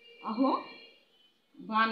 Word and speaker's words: আহ্বান: কেননা আমরা জানি যে হয়ের সঙ্গে ব যুক্ত হলে ব মহাপ্রাণ রূপে উচ্চারিত হয়। এ কারণে বয়ের মহাপ্রাণ রূপ হলো ভ। এ কারণে এর উচ্চারণ হচ্ছে আহ্বান।